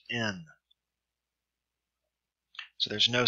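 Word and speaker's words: ἐν: market has no sound thus epsilon new with a rough reading Marcus pronounced hen but with a smooth breathing mark it's pronounced in so there's no sound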